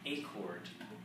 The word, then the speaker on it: Acord: Virginia Acord, pronounced like acorn, only with a D, owned a used retail clothing shop called Calico Cottage Clothes, all spelled with a K.